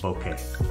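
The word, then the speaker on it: bokeh: the quick autofocus and creamy bouquet yep according to a Canon product management director a fellow who is Japanese that's the correct pronunciation of the word that we always stumble on but remember that even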